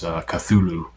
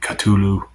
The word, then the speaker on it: Cthulhu: Some people say Cthulhu. Some people say Cthulhu. If you listen to my dream incubation video on him, I pronounce that Cthulhu. And that's kind of the approximate pronunciation H.P. Lovecraft gives.